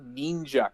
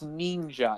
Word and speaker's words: Neenja: No, the I Want to Be Neenja comic. That's what matters. I just thought about how she always goes out of her way to pronounce ninja as ninja. Every time. It's Neenja.